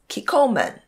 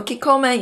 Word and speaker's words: Kikkoman: So one is Kikkoman, if I pronounce it properly. So Kikkoman is also a good brand.